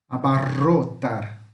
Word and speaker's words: abarrotar: Ro. Temos dois R. Abarrotar. Então é esse som, ro, que vibra, ro.